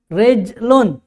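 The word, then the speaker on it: رِجْلٌ: domah Tain beda ya hurufnya sama tapi cara baca berbeda itu juga akan menentukan arti menentukan arti dalam masahas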